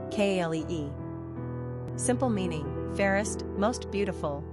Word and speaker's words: Calli: Callie and Callie are pretty clearly pronounced Kalee.